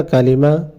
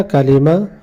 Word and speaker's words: کلمہ: اور آج کی ویڈیو کے اندر ہم پہلا کلمہ، جس کلمے کو کلمہ طیبہ کہا جاتا ہے،